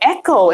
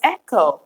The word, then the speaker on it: Eko: oh okay and am I saying that right Eko cuz it's two e's in a KO so I would imagine that's Eko it's beautiful whatever it is I love it Oh Eko it's pronounced Eko oh I don't see how would I never